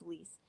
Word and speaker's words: Alice: watch interview Elise yes her name is not pronounced Alice it's Elise or yeah it's El